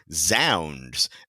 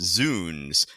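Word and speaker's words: zounds: also for that matter zound uh is actually probably pronounced zoons because it's a reference to God's wounds so that always jumps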